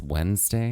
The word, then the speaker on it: Wednesday: and their back protrusions loses its D when it's set out out loud unless you're trying to pronounce it to spell it it's also a day of the week what is Wednesday right there you go